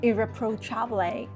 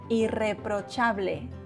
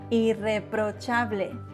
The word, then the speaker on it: irreprochable: Static vowels, dry and static consonants. Remember that. It is not difficult, just needs practice. So it is not irreprochable, but irreprochable. I-E-O-A-E. Irreprochable.